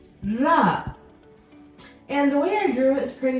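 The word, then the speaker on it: راء: Can you roll your R? Ra. For those of you who know Spanish, you already know how to pronounce this sound. Ra. Roll that R. Ra. Not ra. Ra. You're going to bring your tongue up. Ra. And you're going to move it. Ra. Rolling R sound.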